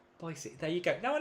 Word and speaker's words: Boise: Um so, ah Amy said, "Boisey." Boyisey, there you go. Now I know how to pronounce it.